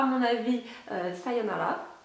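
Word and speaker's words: さようなら: à mon avis euh sayonala donc qui se prononce comme ça s'écrit les r se disant en L en japonais c'est c'est comme ça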